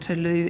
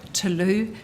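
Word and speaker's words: Tlou: to a company called Tulu energy it was a company Tulu it's spelled capital t l o u energy so that's a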